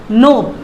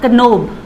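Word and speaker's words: knob: Okay, नोब, NOB, नॉट कनोब, वो नहीं होगा, NOB will be the correct pronunciation.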